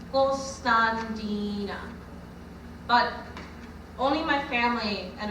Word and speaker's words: Constantina: i'm is years old in greek you pronounce my name gulstan dina but only my family